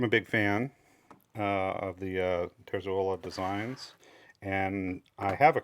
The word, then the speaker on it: Terzuola: He introduced himself in the video, said his name was Robert Terzuola. So I'm trying to say it correctly, even though I hear it mispronounced and pronounced a few different ways quite commonly.